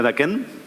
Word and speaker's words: Daquin: ¿Se pronuncia Daquin? Daquin. Sí, así es, Daquin.